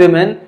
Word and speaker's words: women: लिए several main and वीमेन, कई sorry यहाँ पर ये विमेन है, ठीक है, जो प्रोनाउंसिएशन होता है WOMEN का, इसको हम विमेन कहते हैं।